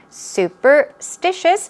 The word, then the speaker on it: superstitious: could be superstitious okay superstitious stress goes right there on the third syllable let's do two times